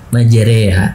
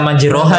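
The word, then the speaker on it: مجراها: Tulisannya kan kalau di Quran majroha, tapi bacanya majereha. Gitu. Berarti kalau nggak dipelajari sih apa gharib ini ya bisa terbaca majroha tadi ya.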